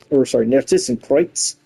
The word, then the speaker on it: Narcissus Kreuz: We got the Sword of the Narcissus Narcissus Kreuz, is how it's supposed to be pronounced.